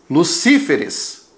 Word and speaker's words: Lucíferes: Ó o plural, ES. Desloca a sílaba tônica, Lucíferes, certo?